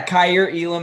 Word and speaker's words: Kaiir Elam: us a quick thought on those guys yeah cair elam out of florida uh that's the correct pronunciation there just length is the first thing